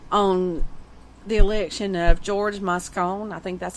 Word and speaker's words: Moscone: very significant impact on the election of george moscone i think that's how you say it as